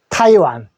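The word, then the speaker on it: Taiwan: 타이 1이라고 하면 되고 타이 할 때 타에 크게 읽어주시면 됩니다 타이완 수도는 타이 입니다 같네요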